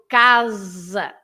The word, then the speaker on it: casa: But in Portuguese, although the word is written the same, you pronounce the S as a Z sound, right? So casa, because it becomes an S between two vowels.